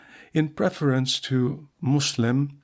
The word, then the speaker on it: Muslim: m in preference to Muslim m u s l i m as most Europeans unacquainted with Arabic pronounce the u in Muslim as in public.